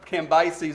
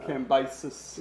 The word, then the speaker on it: Cambyses: 그 다음에 이제 바사의 왕으로 이제 등극하는 사람은 Cambyses is how I pronounce it. But Cambyses. 예, 캄비세스.